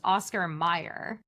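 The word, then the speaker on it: Oscar Mayer: Yeah, but I do I I think I have an explanation for this because it's pronounced Oscar Meyer.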